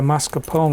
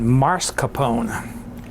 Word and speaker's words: mascarpone: Well, she pronounced it mascarpone, as if the R was in the first syllable. It's in the second syllable.